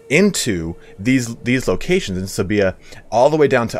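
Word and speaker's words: Sevilla: and uh sebia that's it's not seville as some people call it it's like sabia i mispronounced it i'm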